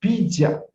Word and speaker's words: bija: first ninja is called bija feature b i j a a is pronounced as ah our seed for